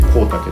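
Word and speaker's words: 香茸: まして、こちら香るキノコと書いてコウタケと言います。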